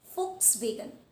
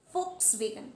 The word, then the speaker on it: Volkswagen: So yes, this word, it is Volkswagen. Volkswagen, not Volkswagen. So the letter V will be replaced by the letter F.